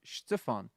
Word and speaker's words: Stefan: rude at all um my name is pronounced Stefan so where I'm from we pronounce we kind of put a bit of an emphasis on the first syllable as opposed to the second syllable so if you're from